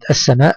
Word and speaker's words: السماء: شمسيه تكتب ولا تنطق فانا انتقل من الالف في كلمه السماء من الالف الى السين مباشره ولا انطق حرف اللام لماذا لانها لام الشمسيه